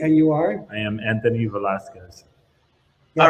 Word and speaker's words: Anthony Velasquez: am diego salterini and you are i am anthony velasquez all right very good tell us tell us